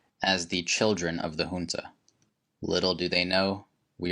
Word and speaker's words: junta: quote deines night birds and the famous quote-unquote junta by the way it's pronounced junta regardless media outlets have parroted this which in